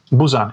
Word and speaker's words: Busan: was curious how do you say that Busan Busan yes Busan uh is so this is not